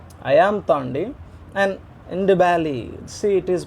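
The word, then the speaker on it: Ndebele: I am Tandi and Ndibali. See, it is pronounced as Dibali or Ndibali. Often you can ignore N. It is actually a silent letter.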